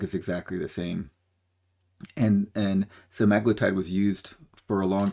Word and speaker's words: semaglutide: So I'm going to pronounce it semaglutide because I think that's how most people pronounce it.